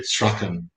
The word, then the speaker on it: Strachan: We say Strawn in Jamaica, by the way. I know that people in the UK say Strachan very often, but Billy Strawn is how I pronounce it, because I suspect that's how it was pronounced when by him.